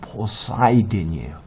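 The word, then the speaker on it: Poseidon: 포세이돈 하는데 영어로 발음은 포사이든이에요.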